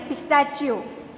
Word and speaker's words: pistachios: रहा है, इसके लिए इसे बोलते हैं स्माइलिंग पिस्ताचियो।